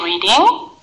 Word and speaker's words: reading: Excuse me, how do you say ing in reading, playing, and searching? Oh, there is no g at the end. Say reading, playing, and searching.